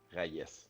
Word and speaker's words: Rayes: minutes certainement mais moi la vraie prononciation le meilleur truc que j'ai trouvé des rails de chemin de fer rail rail s raayes raayes ok fa que j'étais